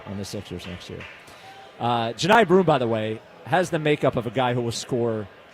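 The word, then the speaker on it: Johni: Janai. Not Johnny. Not Johnny. Yeah.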